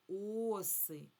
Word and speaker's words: оси: А от якщо багато, тоді мені треба сказати оси. Оси. Зверніть увагу, наголос падає, коли однина на а. А коли множина, наголос паде на у.